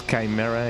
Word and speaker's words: chimera: Yeah, in Spanish we do say Quimera. So I guess Chimera is the most closest one to the Spanish pronunciation.